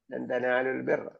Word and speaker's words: تنالوا البر: ഹർഫ് മദ്ദിനെ മദ് കളഞ്ഞിട്ട് വായിക്കണം. തനാലുൽ ബിർറ, അങ്ങനെയാണ് സുക്കൂൻ ഒഴിവാക്കുന്നത്.